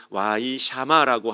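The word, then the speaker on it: וַיִּשְׁמַע: 그 히브리어 발음으로는 와이샤마라고 하는 그러한 단어인데요.이 단어는 단순한 정보 습득에서 머무는 것이 아니라 전 인격적인 반응과 즉각적인 순종을 요구할 때 사용하는 단어입니다.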